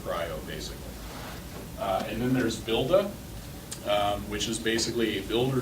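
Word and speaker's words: Buildah: Builda comes from, again, Dan Walsh's team is the one that works on that. Dan is a Bostonian, and so he pronounces builder as Builda.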